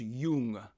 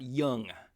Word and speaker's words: Jung: a side note uh his name is pronounced Jung not young but I'm gonna probably